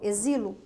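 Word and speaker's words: exílio: se escreve exilo lembrou exilo exilo Olha que interessante exilo não se escreve com x mas qual é o som z então numa transcrição fonética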